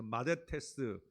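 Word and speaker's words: μαθητής: 드릴게요 보통 마데테스라고 읽습니다 이게 th 발음이에요 th 발음 그래서 마데테스 요거는 m입니다 m 영어로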